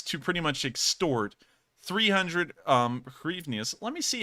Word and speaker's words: hryvnias: For police to pretty much extort 300 hryvnias. Let me see how that's actually pronounced real quick, so that way I can make sure to get that right.